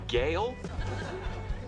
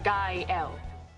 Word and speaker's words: Gael: Gael. Gail? Gael. Kyle? Gael. Girl? It's pronounced Gael.